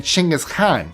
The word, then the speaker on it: Chinggis Khan: His name would have been Chinggis Khan. That's how it's pronounced in Mongolian.